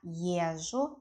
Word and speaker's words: езжу: As for the word ЕЗЖУ, ЕЗ-ЖУ, when we pronounce ЕЗЖУ, it sounds like , it sounds like long ЖЖ.